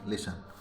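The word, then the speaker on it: listen: T silent होता है कभी कभी टी साइलेंट भी होता है तो कैसे होगा एटी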